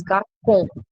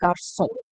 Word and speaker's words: garçon: So I will pronounce this as garcon, but I don't want that K sound. I want the S sound. So I'm using the sedil. So if sedil is there, it is understood you should pronounce this with a S sound. So you will pronounce it as garçon.